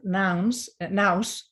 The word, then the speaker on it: nous: And so compassion for me connects to a word that the ancient Greeks used to have, the word nous, which in English is pronounced nous, yeah.